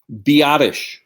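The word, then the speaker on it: Biadasz: How do you pronounce his last name? Biotish. Okay, Biotish.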